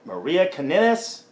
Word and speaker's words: Maria Kanellis: Next up, we have the Kingdom with Maria Kanellis.